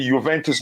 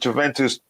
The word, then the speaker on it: Juventus: just viola won me i should pronounce it juventus not juventus against the juventus in